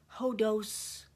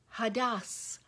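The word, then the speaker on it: ὁδός: It's hodos. No, it's pronounced hadas.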